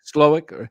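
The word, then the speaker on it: Slowik: same offense 49ers uh Bobby slov or is that how you say it SL slowick yeah um I think Brock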